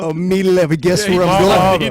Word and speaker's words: Iamaleava: Malaava? Oh, Iamaleava.